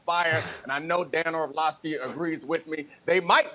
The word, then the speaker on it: Orlovsky: It's Orlovsky, not Orlovsky.